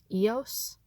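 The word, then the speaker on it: Eos: iOS or I think some people pronounce the name Yoast I usually say AOS but anyway um but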